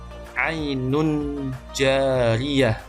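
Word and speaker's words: عين جارية: Kemudian di surah Al-Ghasyiyah ayat 12, ainun jariyah, membacanya ainun jariyah, jadi menyamarkan bunyi n dengan jim, ainun jariyah, bukan ainun jariyah.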